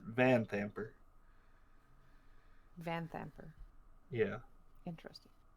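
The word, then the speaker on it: Vanthampur: it's just different yeah the stress is apparently on the van part mm-hmm the vans are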